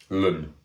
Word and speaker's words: ln: and because of this we write log of e as l n Lun it's how I pronounce it as a lot of people do Lun it's not even